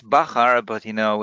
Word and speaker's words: Bachar: yes it's bachar actually it's it's bakar but you know it's